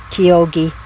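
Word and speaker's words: Chioggia: Chiogia, but it's like Kyogi.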